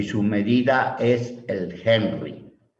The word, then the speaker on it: Henry: Eso es una bobina y se señala con la letra L y su medida es el Henry. Henry se lee así, pero se escribe con H.